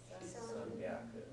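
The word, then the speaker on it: 三百: Notice that the pronunciation shift still happens even though you're looking at it in kanji, so you're not seeing the pronunciation shift spelled out, right? When you spell it in hiragana, you see it, sanbyaku. But you still say it that way even if you're looking at the kanji, sanbyaku.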